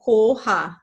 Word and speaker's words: Koha: So Koha, as I just said, is a very round O. It is always 2 syllables. So Koha. And just you like pretend like you're, I don't know, giving air kisses or some Koha, like Koha.